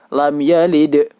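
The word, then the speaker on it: لَمْ يَلِدْ: Lam yalid. Dan cara membacanya yaitu wajib dipantulkan.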